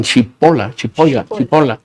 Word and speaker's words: Cipolla: Hay un filósofo francés, Cipolla se escribe, y yo digo que le dicen Chipola.